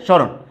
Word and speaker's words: স্মরণ: তাইলে তুমি দেখো আমি উচ্চারণ লিখছি, স্মরণ, ক্লিয়ার, ঠিক আছে, স্মরণ, তালবা স্বরের উপরে চন্দ্রবিন্দু দিয়ে কিন্তু আমাকে উচ্চারণটা করতে হবে।